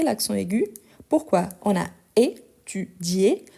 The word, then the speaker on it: étudié: On a étudié. Si on n'ajoute pas l'accent aigu, ça devient étudie. Donc ça change même la prononciation parce qu'on va prononcer le i.